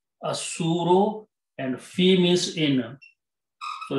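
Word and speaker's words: الصور: Al means da, and pronunciation will be asuro, lam is silent, asuro, and fi means in.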